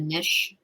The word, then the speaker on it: niche: Well, I've really created a little bit of a niche, is how you say it, niche for myself, in that my specialty is really helping people heal their wounded inner child.